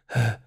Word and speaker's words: ه: Et le ha tout seul, la lettre ha, elle fait le son ha, ha.